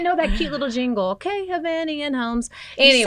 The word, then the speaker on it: Hovnanian: But you might know that cute little jingle, Hovnanian Homes.